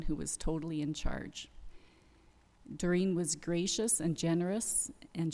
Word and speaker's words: Doreen: I always called her Doreen, and I just realized thinking about her and hearing her voice this last couple weeks that she pronounced it Doreen.